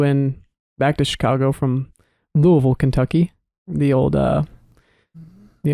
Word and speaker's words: Louisville: on my flight to louisville someone was like yeah everyone thinks it's louisville but it's louisville you really gotta swallow that first syllable i think it's sad